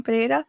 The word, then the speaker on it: Pereira: Pereira.